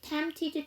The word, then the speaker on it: tempted: 세 개 겹치죠 그럼 두 번째 피가 무음이 아닌데요 발음을 안 하고 넘어가요 그래서 tempted 이렇게 해 주시면 되겠죠 그런데 뒤에가